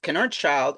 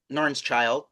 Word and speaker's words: Knoernschild: you pronounce it and I just can's child and then my wife says n's child she says the case silently and in my high